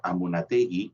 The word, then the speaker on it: Amunátegui: cuando estuve en españa me enteré que la bello estéreo vasco se pronuncia amunátegui y no anula tics y como lo pronunciamos nosotros en referencia a la